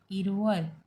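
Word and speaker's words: 일월: तो इसे one wall लिखेंगे कोरियन लैंग्वेज में, बट इसे बोलेंगे कैसे? ईल वॉल। अभी हमने जो गिनती सीखी उसमें एक को हम क्या कहते? ईल। एंड वॉल यानी मंथ यानी इरवल।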